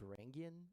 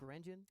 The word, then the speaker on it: Varangian: But could you explain maybe why we pronounce it Varangian and not Varangian?